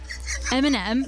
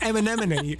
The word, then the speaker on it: Eminem: Eminem. Yeah? Eminemini. No, it's not Eminemini.